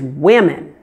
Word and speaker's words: women: now the plural is women here the O is pronounced as a short relaxed I sound it's the same I